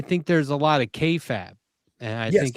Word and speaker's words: kayfabe: Well, yeah, but like I I think there's a lot of kayfab and I think it's I'm pronouncing that right, aren't I, Bender? I always feel like I'm pronouncing Oh, kayfabe.